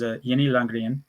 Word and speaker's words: Jenny Langren: She told me that the correct pronunciation is Jenny Langren, which I like to call her that.